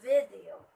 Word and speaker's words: video: It's a video. It should be on the first syllable.